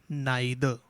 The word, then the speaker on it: neither: Whenever we have the word neither, or you can also pronounce it as neither, neither borrow nor lend.